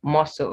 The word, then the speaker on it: muscle: muscle this word is muscle not muscle yes the s is the c is silent but it doesn't change the s to the z sound it's muscle indict the